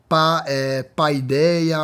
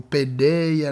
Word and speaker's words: Paideia: A pronúncia é pouco, né? Paideia ou pedeia, né?